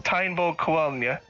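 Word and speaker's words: Táin Bó Cúailnge: And the first one was Tainbo Kuelnya.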